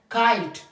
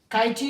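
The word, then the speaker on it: kite: वो क्या है साइलेंट काइट काइट काटी नहीं है ऐसा न के एर फुनी या काटी या फायरी नो ये फिर गलत होंगे काइट मींस पतंग शाइन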